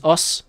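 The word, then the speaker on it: osu!: I do play Osu. I do play Osu, or Os, if that's what it's called. Some people say Osu, some people say Us. The actual pronunciation is Us. It's Japanese, right?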